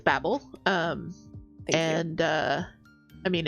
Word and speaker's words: Babel: I haven't heard of it, and I I actually don't know if it's Babel or Babel. It's Babel.